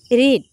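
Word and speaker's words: read: past participle form হব এট রেড spelling to same থাকে pronunciation two আমি রিড fast to present form রিড পড়ু আরও তার পিছ পাস্ট ফরম আরো পাস্ট পার্টিসিপল ফর্ম আমি রেড পড়ু কিন্তু ইয়া স্পেলিং সেম থাকে হলে কি হব আই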